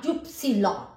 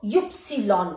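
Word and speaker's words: Ypsilon: है एक्स को एकस वा वा का यप्स लन वाई को यप्स लन बोला जाता है जड जड का सेट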